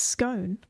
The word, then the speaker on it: scone: Because how do you say cone? Cone. You don't say con. It's cone. It's scone. And he's like... Is the word scorn or scone? It's scone, the second one.